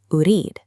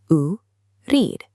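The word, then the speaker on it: أريد: The word for want is urid. Let's break it down. U-reed, urid. Now you practice it out loud. Urid.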